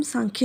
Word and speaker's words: सांख्य: यहाँ पे सांख्य अलग अलग तरीक़ों से लिखा जाता है, SAMKHYA या फिर SANKHYA, बट उसको प्रोनाउंस हम सांख्य ही करेंगे।